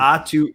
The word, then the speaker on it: Aatu: Right, but I know the last name rhymes with the first name, so it's weird. Atu.